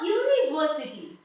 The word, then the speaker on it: university: okay for example a university here U is not pronounced like who rather it is being pronounced like you only you University so